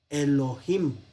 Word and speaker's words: Elohim: a fuego pero bueno cuando el tetra grama el nombre de llave aparece en conjunción con ado nay pues no se pronuncia ado nay adonay sino que se pronuncia a donde hay en lo que a veces se vocaliza aquí hace yo vi no es para pronunciar yo vi sino para pronunciar esta palabra elohim para evitar leer la